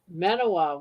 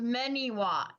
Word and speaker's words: Manawa: Yeah, it's pronounced Meniwa.